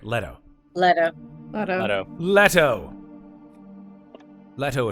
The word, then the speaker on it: Leto: our friend Jared Jared Leto Jared Leto Leto Leto right letto letto letto letto letto letto atres here we